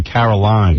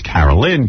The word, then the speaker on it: Carolyn: And I remember all the times I spent talking to her, I was always afraid to say her name because I was afraid I'd say Caroline. Yes. It's Carolyn, Caroline.